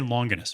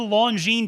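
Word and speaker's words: Longines: the launch uh the longine i always say longerness because i used to intentionally mispronounce it to make fun of it and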